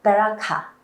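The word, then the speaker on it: בְּרָכָה: 앞에 화면을 보시면은 히브리어로 복은 보이시는 대로 저렇게 씁니다. 네. 베라카 이렇게 발음을 하시면 됩니다. 사실이 복이라는 명사는 베크라는 동사에서 왔어요.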